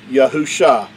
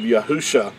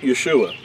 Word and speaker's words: Yahusha: YAHU Sha is spelled Yad, He, Ua, Shin, Ayin, and that would give you the pronunciation of YAHU Sha, not Yeshua.